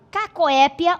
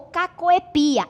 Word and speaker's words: cacoépia: É o erro de barbarismo chamado cacoépia ou cacoepia. Aqui sim é facultativo, você pronuncia os dois.